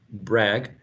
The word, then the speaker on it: brag: in the next paragraph bragg it's also uh pronounced with a with an a trap brag but dang right brag and dang they need to rhyme um heard that's another